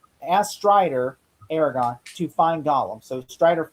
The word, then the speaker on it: Aragorn: Well, it's actually pronounced Aragorn, not Aragorn. I call him Aragon. It's not Aragon.